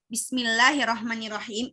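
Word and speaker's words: بسم الله الرحمن الرحيم: nggak bismillah dua aja Bismillahirrohmanirrohim malah Sabtu juga bisa Pokoknya dia paling panjang dua gitu ya jadi bacanya kayak satu ketukan D1 ketokan aja Bismillah Hirohman Nirohim bisa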